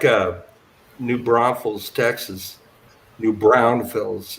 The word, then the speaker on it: New Braunfels: a New Braunfels Texas new brownfields is actually how you say it but it's a German